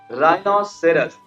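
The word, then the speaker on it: rhinoceros: है हो जाता है राइनोसेरॉस राइनोसेरॉस मतलब गंदा क्या होता है गंदा तो आर के बाद हा आया ना तो उसका साउंड क्या है साइलेंट आर के बाद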